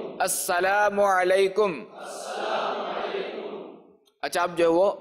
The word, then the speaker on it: السلام علیکم: سن لے۔ سلام اور جواب سلام کا درست تلفظ یاد فرما لیجئے، جیسے ابھی میں کہتا ہوں آپ سن لیجئے اور دہرائیے۔ السلام علیکم، السلام علیکم، السلام علیکم۔ اچھا، اب جو ہے وہ میں جواب کہتا